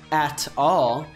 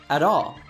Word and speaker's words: at all: Freddie doesn't say, at all, he says, at all. This is because often when we have a T between two vowel sounds, even of different words, it changes to a D sound.